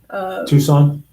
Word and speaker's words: Tucson: Tucson? I'm sorry. That's all right. Let me see. Let me make sure. Yeah, Tucson. Okay. The C is silent.